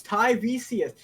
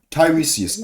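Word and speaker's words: Tiresias: Oh, I thought it was hot like a H. No, it's Tyius. Tyresius.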